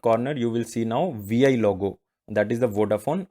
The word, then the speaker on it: Vi: Idea now integrated new brand identity, that is VI. So in the mobile network, if you have Vodafone network, then you can say that on the upper left corner you will see now VI logo, that is the Vodafone Idea.